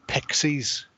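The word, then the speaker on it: Pictsies: to 8 in tall little Pixies only it's spelled picked like the people who live in and around the Brocks uh so the pies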